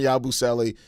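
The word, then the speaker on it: Yabusele: Uh yeah, Gershan Yabuselli is how you pronounce his name, but yeah, I like him a lot, too.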